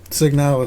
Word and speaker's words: Signalis: Signalis.